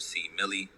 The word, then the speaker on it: C Millie: by the musician named c millie um if that is too long for some people i completely understand you could just call me c c millie is three syllables but you know people